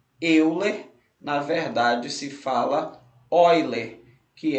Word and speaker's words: Euler: A gente escreve Euler, mas a gente lê, a pronúncia correta é Euler. Por quê? Porque este matemático, ele nasceu numa região que hoje é o território alemão, e naquela época a língua já falada era a língua germânica, tudo bem?